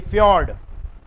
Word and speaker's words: fjord: Horn, एरीट, सर्क, hanging valley, U shape valley, फ्यॉर्ड। FJORD पढ़ते हैं, फ्यॉर्ड लिखते हैं, जे यहां पे साइलेंट है, ठीक है।